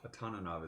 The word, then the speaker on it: Atananov: Atananov is the way to say his name.